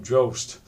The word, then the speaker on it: Drost: The title was supposed to rhyme with her surname, Drost, but by the time the release, she had changed it to Summers.